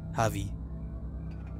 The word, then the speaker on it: Javi: his name as he pronounced it right the silent jay javy there's some of the